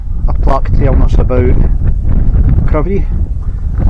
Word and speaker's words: Crovie: This is a a plaque telling us about KVY or as it says there pronounced Kvy, not Krovy.